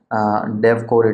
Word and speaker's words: DEVCOR: Okay, the exam code shortly can actually be pronounced as DevCor itself.